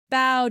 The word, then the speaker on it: bough: he's not strong enough sound four this rhymes with how and now the words are bow drought plow and slow try saying this rhyme